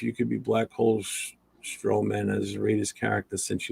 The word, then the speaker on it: Strowman: Strowman.